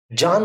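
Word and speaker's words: Bjarne: So, a gentleman by the name John Stroustrup, the B is silent, developed the C++ programming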